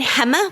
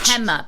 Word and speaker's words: Pema: embrace that idea was Pema Chandran. I think she's a monk of some type. She has a quote about... Wait, so say it again. Hema with an H? Pema, P-E-M-A. Oh, P. Okay.